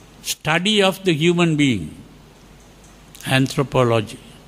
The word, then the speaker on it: anthropology: So we don't say anthropology, we say anthropology. That is the proper pronunciation of that. anthropology. Like psychology is pronounced as psychology. In the same way, anthropology is pronounced as anthropology. That is the British way of pronouncing. So the important thing is